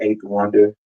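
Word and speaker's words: A8THWNDR: I pronounce it eight though, but it's the letter A, the number 8, THWNDR.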